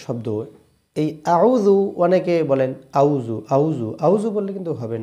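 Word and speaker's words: أعوذ: আউজু আউজু এর এই যে আউজু একটা শব্দ। এই আউজু অনেকে বলেন আউজু। আউজু আউজু বললে কিন্তু হবে না। এখানে একটু চেষ্টা করেন। আউজু প্রথম শব্দটা হামজা। খুব শক্তভাবে বলতে হয়।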